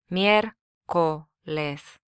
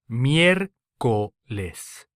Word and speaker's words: miércoles: The Spanish word for Wednesday is miércoles, miércoles, Here again the first syllable is stressed due to the written accent rather than the second syllable.